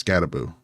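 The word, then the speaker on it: Skattebo: A lot of people put Boone on the end. I don't know why, but it is Scadaboo. Like it's just boo, like a ghost at the end.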